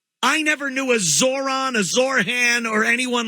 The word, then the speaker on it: Zohran: I would think they wouldn't want to go with Zohran because it rhymes with moron. It's very easy to say Zohran the moron.